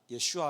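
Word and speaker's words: ישועה: 히브리어로 히브리어로 구원이라는 뜻인데 발음을 하자면 예슈아 아고 합니다 히브리어로 구원이 구원의 의미가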